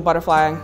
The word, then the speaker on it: Butterfleye: it it's um b-u-t-t-e-r-f-l-e-y-e and I say e-y-e because you know you think of I like self but yeah that's how the visual butterfly came about I was